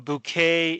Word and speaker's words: bouquet: apostrophe Okay g order bouquet a bouquet is a group of flowers it's French so you have to pronounce it in a very weird way bouquet order bouquet for